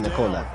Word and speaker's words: Nicola: The way he pronounces his name is Nicola.